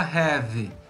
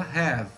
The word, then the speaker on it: have: Silent E, que é um E que não tem pronúncia aqui nessa palavra. A gente não fala have, a gente fala have, som de V no final.